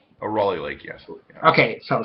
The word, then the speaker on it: Raleigh: How do you pronounce it, Raleigh? Raleigh Lake, yes.